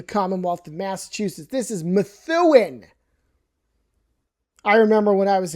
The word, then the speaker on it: Methuen: This is Methuan. I remember when I was a kid, we were driving through going on vacation. I would call it Methuen. No, it's Methuan.